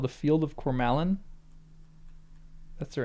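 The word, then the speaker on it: Cormallen: The next chapter is called The Field of Coralin. That's the right pronunciation.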